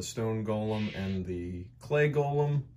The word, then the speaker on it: golem: golem and the clay golem i recently learned that you pronounce it golem and today we're going